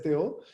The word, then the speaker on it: Theo: Eh, en Norteamérica se pronuncia Theo, pero en Francia es Theo.